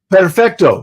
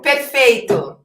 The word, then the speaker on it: Perfeito: Perfecto, right? Is that how you say it? It's not possible. Perfeito.